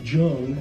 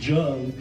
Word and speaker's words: Jung: First of all, the word Jung, as we see it in English, Jung, is actually pronounced Jun.